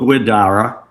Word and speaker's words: Guidara: He's a Bostononian like me, so I can't pronounce the name right. We can't speak. But it's Will Guidara.